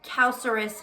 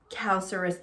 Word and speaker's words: calcareous: So calcareous sounds like calcium, and that's exactly what it is.